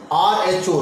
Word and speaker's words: rho: difference the draw it is written rule is pronounced Rho Rho and it is a Greek letter used